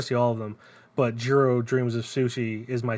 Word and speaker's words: Jiro: pronounce his name hmm it is Jiro but in a pronunciation I can't do because I'm a dumb American got it but it is a it is the hard J um I don't know